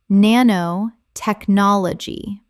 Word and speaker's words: nanotechnology: meme meme Word 82 nanotechnology Common mispronunciation nanotechnology Correct pronunciation nanotechnology Seven syllables with the stress on the fifth.